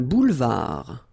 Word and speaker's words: boulevard: Un boulevard. Final D not pronounced.